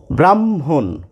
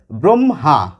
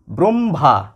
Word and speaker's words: ব্রহ্মা: কথাবার্তায় করে থাকি ব্রহ্মা দুটি ম এসে যায় আমাদের উচ্চারণে হ টি আমাদের উচ্চারণে থাকেই না এবার অনেকে শুদ্ধ করে বলার চেষ্টা করি ব্রহ্মা একটি হ এসে যায় আবার অনেকে বলে থাকি ব্রহ্মা কিন্তু প্রমিত বা মান্যচলির